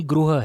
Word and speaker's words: गृह: जैसे हम लोग ग्रह बोलते हैं, एक्चुअली गृह है।